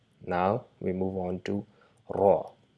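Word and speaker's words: راء: So it's not R, it's ending in raw sound with a little bit of vibration, and also try to shape your mouth a little bit round. So try to produce the sound raw by a little bit vibrating the R along with your upper gums, and and try to round your mouth a little bit to produce the sound raw, raw, raw.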